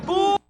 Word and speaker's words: full: 푸 이렇게 되는 거죠. 푸 밀어주는 거예요. 그냥 푸만 하는 거예요. Fu만 한다고 생각하시면 돼요. 을 발음이 있는 게 아니라 강세를 을 밀어줘요. 푸 길게 밀어주고 으소리가 길게 간다고 생각하면 돼요.